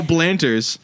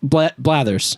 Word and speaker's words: Blathers: If you've got we're going to figure out a way how to kill Blanters. Blathers.